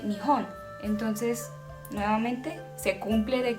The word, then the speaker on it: 日本: En chino se dice Rippan y en japonés se dice Nihon.